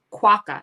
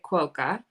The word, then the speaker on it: QUOKA: with 2ks they were it's pronounced quaka in australia but everyone pronounces it quoca when they read it here in the u.s and then when we